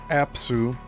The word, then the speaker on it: Apsu: In the Sumerian and Babylonian creation accounts, the firmament is personified by the god Mummu, and that's spelled M-U-M-M-U, who is the rising mist between the great first god Apsu, spelled A-P-S-U, the sweet waters, at Tiamat, the